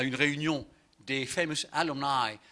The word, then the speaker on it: alumni: Un jour, allant à une réunion des famous alumni, alumni c'est le mot latin, alumni, les élèves, prononcé à la manière affreuse de l'anglais, alumni, c'est-à-dire ce sont les